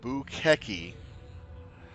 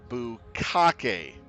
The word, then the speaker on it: Bukeki: You've been killed by, and its pronunciation is Bukeki, but people thought it was Bukake.